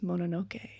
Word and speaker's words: Mononoke: But it was also inspired by Studio Ghibli's film Princess Mononoke. Is that how you say it? Mononoke?